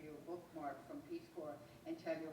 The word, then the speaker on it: Corps: a bookmark from peace cor and tell you how important it is and sister who said that's peace C has a silent S I just learned that